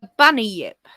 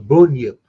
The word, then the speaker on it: bunyip: This is the bunny yip.